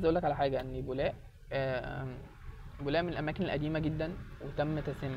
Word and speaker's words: بولاق: وبولاق كلمه مصريه قديمه، وهي اصلا يعني بتتنطق بكسر الباء بيلاق، ولكن تم تحريفها الى بولاق.